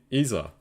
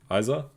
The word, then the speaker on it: Isa: the assemble Noe um your name is Dutch it's pronounced easier Isa Isa sorry it's really hard